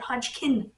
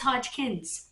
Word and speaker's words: Hodgkin's: even pronouncing it correctly calling it hodgkin lymphoma no it's hodgkin's apostrophe s named after dr thomas hodgkins and when you finish